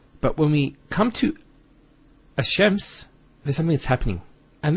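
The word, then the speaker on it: الشَّمْس: So it's Ash-Shams. not al-shams. Because notice when you say al-shams, it's not smooth.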